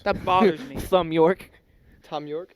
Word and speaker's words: Thom Yorke: He pronounces it as Tom.